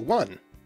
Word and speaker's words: one: changes that occasionally happen, the non-standard pronunciation one arose in the southwest of England and eventually spread. In addition to the vowel changing from o to a, this pronunciation developed a backglide before the vowel, that w sound.